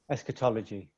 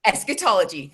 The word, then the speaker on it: eschatology: the um theory of and and help me pronounce this um is it eschatology yeah yes say it again eschatology eschatology thank you eschatology now when i um looked